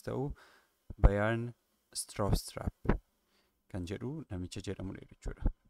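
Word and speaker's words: Bjarne Stroustrup: Kan pronounce ta'u maqaansaa BJARNE inni jedhu anileen rakkisa ture kan pronounce ta'u Bayern Straustrap kan jedhu namicha jedhamudha jechuudha.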